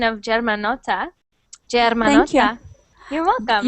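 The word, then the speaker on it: Germanotta: And great pronunciation of Germanota.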